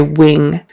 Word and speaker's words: wing: States we just say Wing So wing with a long e and an ing nasal in the back versus when with a